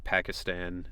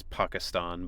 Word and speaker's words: Pakistan: something about being from Pakistan and which again that's another like American I know it's Pakistan but you grow up hearing it Pakistan and that's just what